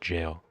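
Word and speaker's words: gaol: to jail that that go a l means jail it's pronounced jail I think it's like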